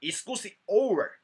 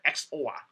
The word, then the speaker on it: XOR: 的操作，叫 exclusive OR 啊。请你不要把它念成 XOR 啊，请你不